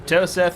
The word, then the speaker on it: Toset: Medic, I've told you 100 times, it's Toset. Toseth. I read the words you've given me, and in my language, that is how we pronounce it. We both speak common. All right. We do not You there? believe in Apparently H's. not. My people do not believe in H's. So we ignore them.